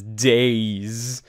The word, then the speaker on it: Deiz: all right welcome to what i would love to pronounce as days it's d-e-i-z which could either be d-i-d-i's these i think i don't know or how i like to think of it days days days days days